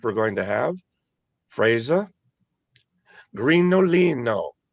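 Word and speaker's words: Grignolino: Grinolino. No G in it, right, Marty? Correct. Well, there is a G, just no pronunciation.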